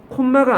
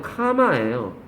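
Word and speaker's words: comma: 썸머예요 안테나가 아니에요 안테나예요 콤마가 아니에요 카마예요 앞으로 카마라고 자꾸 발음하세요 그게 너한테 유리합니다 필기하세요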